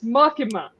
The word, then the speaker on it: Makima: I'm actually gonna say her name right it's makima right yeah I'm proud of you no I'm going back to it it just doesn't sound right so mikima actually uh introduces to YouTube I know it's magma makima introduces dingy to a co-worker which um is